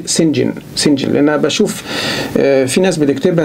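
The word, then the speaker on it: St John: بتكتب كده استي يعني سينت جون يعني القديس جون، إنما لما تقروا الرواية اقروها بالنطق ده سينجن.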